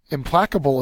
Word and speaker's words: implacable: digest Antonin is expel implacable is next second syllables accented is an adjective it